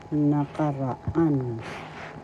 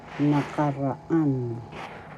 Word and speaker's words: nakaraan: third syllable fourth syllable the accent is in the fourth syllable so you say it or pronounce this oras nakaraan nakaraan nakaraan that is example halimbawa